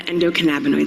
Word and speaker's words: endocannabinoid: Endocannabinoid. Endocannabinoid. Endocan. Louder, Portland. Endocannabinoid. Endocan. Masterful. Yes, thank you. So yes, ladies and gentlemen, this secret system is what's known as the endocannabinoid system, or ECS for short, so if I